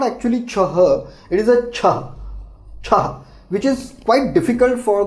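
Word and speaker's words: छह: So 6 in Hindi it is pronounced as ch, but in slang or in everywhere we call it che. So ch is correct pronunciation, but no one says ch, it is che. So I'll write both for you. Ch, it is correctly pronounced, and it is said che.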